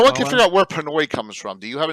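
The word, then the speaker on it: Penoi: all right dark tower pinoy is asian it's p-e-n-o-i though yeah it's p-e-n-o-i like pen wah way we're saying it wrong so we're not sure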